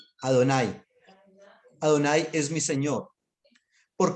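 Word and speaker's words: אֲדֹנָי: el señor esto en el hebreo se dice ado nay adonay adonay es mi señor por qué razón por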